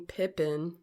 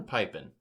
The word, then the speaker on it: Pippin: you know my game Pippin is a Pippin or piping it might be Pippin no medias like Scotty hey I guess it rhymes with ribbon oh that's my game